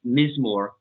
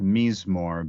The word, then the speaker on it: Mizmor: from Mizmor. I was never quite sure how to pronounce it. Mizmor? Yeah, I think it's actually pronounced Mizmor, but I say Mizmor because I'm just a dumb American.